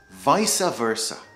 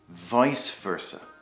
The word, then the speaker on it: vice versa: Some people say vice versa, but really it should be vice versa.